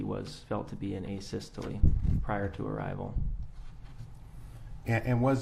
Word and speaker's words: asystole: to the jury uh a systole i think is called um am i pronouncing that right by the way asystole yeah yes would you spell that